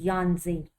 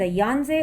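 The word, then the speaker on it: Yangtze: एंड the pronunciation the यांजे और द यांजी इज the longest river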